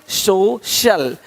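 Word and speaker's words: social: अब देखो यदि सी के आगे आई ए हो तो सी का उच्चारण श होता है। क्या होता है? श होता है। क्या लिखा हमने? सोशल सोशल सोशल तो यहां पे शल हो रहा है।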